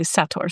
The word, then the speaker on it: Sator: I will say though, um, for the longest time I've been pronouncing it Sedar Square, and I'm I'm going to try and train myself to say Satar Square for this episode because